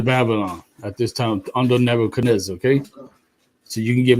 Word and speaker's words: Nebuchadnezzar: He was also one of the captives which the book Nebuchadnezzar. Hold on, it's pronounced Nebuchadnezzar.